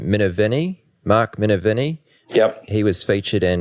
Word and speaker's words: Minervini: already kind of mentioned, Mark, how do I pronounce his last name? Minervini? Mark Minervini?